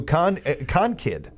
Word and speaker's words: Concord: So obviously it's Concord, because that's the phonetic way of saying it, would be Concord, yes. Gallagher, whose preferred pronunciation resembles the word conquered, ran into some opposition